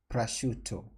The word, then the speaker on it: prosciutto: it's pronunciation now so according to google the pronunciation is pressure it's not shutter shu it's you prosciutto perfect so it's some kind of uh from